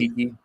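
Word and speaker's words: Okeke: Your 3 is Chemi Okoke, right? Is that how you say his name? Okiki. Yeah, Chemi Okiki, and then you'll have Suggs and Cole Anthony as your backcourt.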